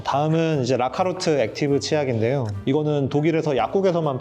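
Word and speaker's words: Lacalut: 이런 느낌을 좀 받았고 제가 채지피한테 독일 사람들은 어떻게 읽어 해가지고 발음까지 알아왔는데 라카루트 이렇게 읽어요.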